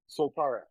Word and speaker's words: Soltara: So about your company, Soltara, is that how I pronounce it? Soltara? Soltara.